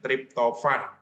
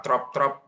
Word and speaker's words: triptofan: Itu asam aminotriptofan ya, bacanya triptofan. Ya. Triptofan ya, bukan trop. Oke.